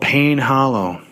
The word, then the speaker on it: Payne Hollow: book it's a it's called pain Hollow it's spelled p a y NE e Hollow it's by a